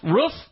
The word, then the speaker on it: roof: a shot at you it is roof as in hoof not roof as in poof just want you all